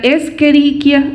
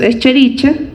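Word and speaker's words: Escherichia: oportunistas tenemos citrobacter enterobacter la esqueriquia Esa es la forma como se debe de pronunciar pero usualmente le decimos eschericha y clepsiela son como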